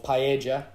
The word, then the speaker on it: paella: And thank you again, Sex Crisps, with the new paella or paella. Would that be the correct pronunciation, Jack?